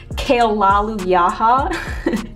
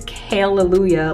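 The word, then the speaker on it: Kale-lujah: was pronouncing it incorrectly I thought it was kale lolly yaha and then people are like a girl it's Kayla lujah like hallelujah and I was like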